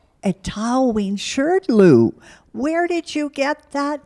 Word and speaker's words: Etaoin Shrdlu: are the leader of the band the name pronounced aten aten Shero a to Shirl where did you get that name yes well